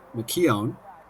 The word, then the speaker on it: McKeown: tuning into the game, correcting me on my pronunciation that I butchered a bit earlier. So thanks again for filling me in there. And so that should be Aoife McKeown, if I'm correcting that pronunciation that I messed up earlier with the score to